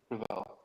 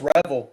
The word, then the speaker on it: Revel: The way he pronounces his name, it's Savon Ravel. Savon Rebel. There you go. No, it's. I know it's Revel. I saw a video of him saying it, and it was Revel. Yeah, it's Revel.